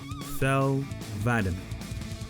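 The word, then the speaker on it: Thel 'Vadam: last but not least fel vitamin and yes that's how you pronounce it or the arbiter voiced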